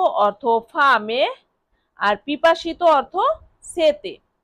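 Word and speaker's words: sete: পিপাসিত এর ইতালিয়ান অর্থ হবে সেতে। এস ইটিই সেতে। টি এর উচ্চারণ ত এর মত হয়। তাই এটা হবে সেতে।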